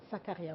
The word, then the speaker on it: Sakarya: On va parler aujourd'hui de l'université je vais mal prononcer parce que j'ai mal. Sakarya. Sakaria, oui.